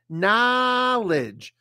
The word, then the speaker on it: knowledge: But when we put it in this form, this O changes to an ah, as in hot, box, stop, problem, product, solve, ah, okay? So we say this word as knowledge.